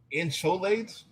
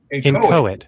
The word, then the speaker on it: inchoate: An extreme form of hate speech inciting to genocide is an insolate. I've never heard of that before. Insolate. How do you say that? Let me, here's Masada. We don't willfully be dumb. Inchoate.